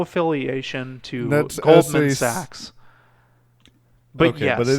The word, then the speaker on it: Sachs: if that's your situation, please check out Burlap Sacks. We are in no affiliation to That's Goldman SAC. Sachs.